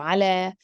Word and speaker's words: على: with no dots, and it would be pronounced as if we have alif. So ala.